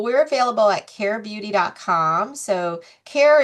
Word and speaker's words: Caire: So, Care is not spelled C A R E or C L A I R and it's spelled C A I R E, which is care with an I in the middle. It's an anagram for I care.